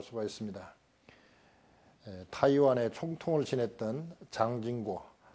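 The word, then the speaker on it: 蔣經國: 있습니다 타이완의 총통을 지냈던 장진고 중국말로는 장진거고 우리 식으로 발음하면 장경국입니다 장쯔석의 아들인데 총통으로 있을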